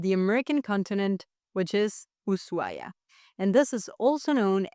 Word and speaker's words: Ushuaia: without the husu because in Spanish technically we don't pronounce the h when it comes after an s.